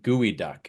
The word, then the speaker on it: geoduck: it's a a tortilla it's not a geode or a duck it's actually uh it's pronounced gooey duck oh that's a gooey duck okay I know what